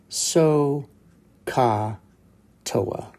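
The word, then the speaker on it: SOH CAH TOA: summarize that by the letters t-o-a which is pronounced toa and so all together what we have is so ka toa and this is a nice way to remember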